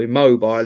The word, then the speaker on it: Immobile: named for a striker, Immobile or Immobile, if you prefer the English pronunciation.